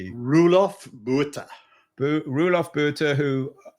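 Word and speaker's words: Roelof Botha: I can't pronounce what's how do you pronounce his name, Keith? Ruof BH Rulof BH Butter who says venture is not an asset class.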